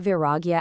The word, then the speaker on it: Vairāgya: Now, that's pronounced V-I-R-A-G-A.